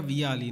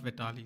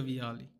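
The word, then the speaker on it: Vialli: John uh Vitali right say his name Vitali played for him but Jeanluca Viali not Vitali sorry Jean Luca Vali all right this 95 5 CDM Nemana VidC Long Ball Aerial.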